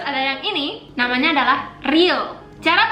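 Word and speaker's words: 리을: Terus ada yang ini namanya adalah real. Cara bacanya R atau L, R atau E.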